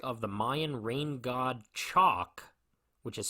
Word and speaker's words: Chaac: They then look at a mask of the Mayan rain god Chalk, which is spelled Chaac, and then we discover that Big Ed's battle axe is missing from its usual place.